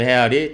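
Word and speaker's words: real: 어 1레알 뭐 브라질 헤이라 그러죠. 그 포르투기 포르투갈은이 R 발바음을 H 발음을 하니까 그 브라질 해알 1알같이 샀다.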